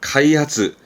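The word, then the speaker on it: 開発: 그래서 대표적인 부분이 개시 시작한다라는 의미의 개시, 발음은 카이시, 카이시. 요 개자의 음은 카입니다. 그래서 카이시. 개발이죠. 개발하다. 카이하츠, 카이하츠.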